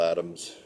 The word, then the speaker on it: Adam: been doing the Bill Adams routines and the bill Adam routine I always like to pronounce the same with an s for those of you